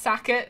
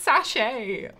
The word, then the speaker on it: sachet: stand the socket no it's not pronounced sackett no it's pronounced sachet okay so we're definitely